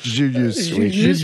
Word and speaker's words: JVLIVS: Et l'autre, je serais bien en peine de vous dire, c'est quoi Julius, c'est ça? Parce que ça s'écrit JVLIVS2. Julius, voilà, de SCH.